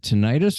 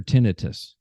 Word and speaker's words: tinnitus: you have, and I'm not sure, do you pronounce it tinnitus or tinnitus?